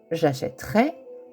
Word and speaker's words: achèterai: Attention à la prononciation. La prononciation change. Alors, ce qui nous donnera j'achèterai.